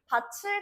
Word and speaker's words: 밭을: 밭을 갈다? 밭을 아니에요. 이거 발음할 때 밭을 갈다 라고 해야지 올바른 발음이에요.